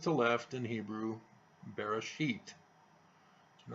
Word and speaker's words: Bereshit: First word is Bereshit, and he mispronounces it as an alternative.